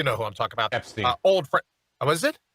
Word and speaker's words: Epstein: What'd you say his name was? Webstein? No, Epstein. Epstein.